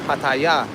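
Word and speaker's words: Pattaya: No, it's I I usually pronounce it patia or pataya. Uh the correct name the Thai Thai people say is paya but I I usually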